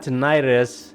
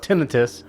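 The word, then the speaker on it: tinnitus: Yeah, I mentioned that I had tonitis. I think well, up to this point, I think uh it's pronounced tinitus.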